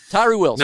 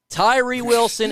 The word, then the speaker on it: Tyree Wilson: the 2023 NFL draft it rhymes with ryrie Wilson Tyree Wilson no I no I